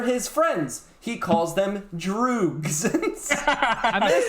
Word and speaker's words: droog: He leads a small gang of thugs, Pete, George, and Dim, whom he calls his droogs. His droogs. How do you spell that?